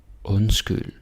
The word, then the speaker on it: undskyld: Så undskyld, underlig, rund, sund. And again. Undskyld, underlig, rund, sund. Okay? Yeah, you can do it. D is silent. Don't say undskyld and underlig, rund, sund.